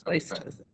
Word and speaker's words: Place-Jose: It is Place-Jose.